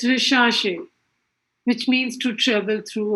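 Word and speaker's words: recherche: and you know in french this church is pronounced like sure so it's rishashi which means to travel through our survey so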